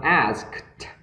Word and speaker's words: asked: The asked, đó, âm asked, đó, âm cây và âm thi nữa, được chưa nhỉ?